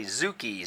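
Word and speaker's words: 突き: 21 across is punch, tsuki, T-S-U-K-I. I've seen some publications that say zuki, Z-U-K-I as well, but tsuki, T-S-U-K-I, is more correct.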